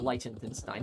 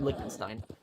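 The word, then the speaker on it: Liechtenstein: is what living in Lentenstein or Monaco? I I always pronounce that country's name wrong. Likenstein I think that's how you say Likenstein. Not Lentenstein. Likenstein.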